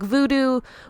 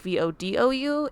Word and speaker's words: Vodou: this isn't authentic because their sign would say like voodoo, which isn't actually like the correct pronunciation for things. It's like they would spell it Voodoo. And I think with Voodoo, it's supposed to be like Vodou, and a little bit of a difference there.